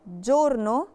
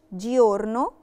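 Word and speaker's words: giorno: جورنو جورنو يعني نهار نطقتها جورنو مش ديورنو علشان قاعده ان الاي ما بتتنطقش لو جه وراها ونافوكا عليه من الايه اه او ما بنطقش بنطقش بنطقش فعلشان كده نطقتها جورنو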